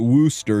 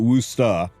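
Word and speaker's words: Worcester: No, you don't pronounce if you're from Massachusetts, you don't pronounce you don't pronounce it Worooster. You pronounce it Worusta.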